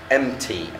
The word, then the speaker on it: empty: need يحتاج، peel يقشر، empty عندي البي هنا silent يفرغ، وطبعا تيجي صفة